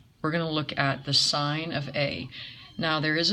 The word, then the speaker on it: sine: in the first one is called sine okay that's how it's pronounced no we don't write it out if you look at your calculator you don't see SI any you see SI n so we write it like